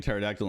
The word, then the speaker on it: pterodactyl: That's why God everybody goes for the P is silent.